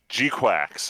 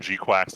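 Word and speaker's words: GQuuuuuuX: quick uh first one Gundam G quacks I think that's the actual real pronunciation G quacks like a duck um we it was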